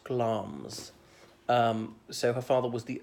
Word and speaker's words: Glamis: Shakespeare well in Macbeth notice it's spelt the Glamis but pronounced gloms so her father was